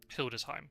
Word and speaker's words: Hildesheim: When you have EI beside each other in German, you always pronounce the second one. So it'd be Heim, not Heim. So anything like Schiem wouldn't be correct. Hildesheim.